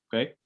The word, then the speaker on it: ho: Kemudian kita lihat juga teman-teman ya, untuk pelafalannya itu bukan ho ya. Jadi kita anggap saja si h-nya itu tidak ada. Ya, jadi bukan ho, tapi o. Ya, anggap saja si h-nya tidak ada.